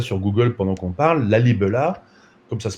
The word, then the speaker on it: Lalibela: Lalibela, comme ça se prononce, site absolument exceptionnel, où ma collègue Marie-Laure